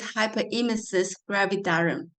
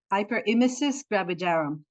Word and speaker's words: hyperemesis gravidarum: well understood which is hyper ham gravitar oh my God please let me how do you pronounce that uh it's hyper imis gravidarum hyper imis gravidarum or HD can you